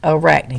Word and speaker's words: Arachne: in this next line it gives me the pronunciation uh rachni arachne so what's this word arachne